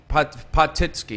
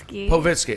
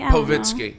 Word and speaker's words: Povitsky: I can't pronounce her last name yet. I have a stumbling block. So you can try. Potitsky. No. Povitsky. Okay, so I can't. It's pretty easy. Povitsky.